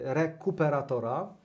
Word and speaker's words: Rekuperator: Zresztą jest polski przykład rekuperatora. Mhm. Akcent co to jest? No właśnie, akcent na kupę, niestety, to świadomie położyłem, więc zachęcamy Was do sprawdzenia, czym jest rekuperator.